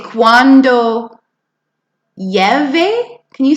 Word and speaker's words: llueve: Let's take a look at when you say cuando llueve. Can you say cuando llueve? Cuando llueve. See, those two L's make the Y sound.